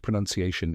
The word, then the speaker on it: pronunciation: Notice that it's not spelled with pronounce in the middle, even though the two words are related.